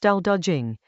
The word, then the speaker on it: Dao De Jing: Dao De Jing, pronounced Dao De Jing, is a short passage about what makes anything last.